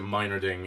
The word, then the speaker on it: Meinerding: As for Captain America's look in the film, Ryan Meinerding, I heard them pronounce it Meinerding in the behind the scenes, so I'm going to go with Meinerding.